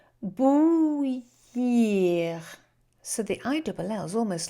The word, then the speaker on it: bouillir: What is bouillir? Difficult to pronounce. It's got the ou sound in, and the I-double-L is a y sound. So go ou, y. And then the ending is ear.